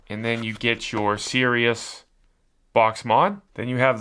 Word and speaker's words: Sirius: It says Sirius.